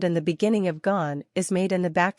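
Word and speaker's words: gaan: try the whole word gone the on part is pronounced like on in English gone means goes and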